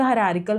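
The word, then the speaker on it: hierarchical: Same for द हायरार्किकल model, देखो pronunciation हायरार्किकल है लेकिन स्पेलिंग्स में गड़बड़ ना होना, तो आप बोलने में हायरार्चिकल मॉडल ऑफ इंटेलिजेंस बोल लिया करो।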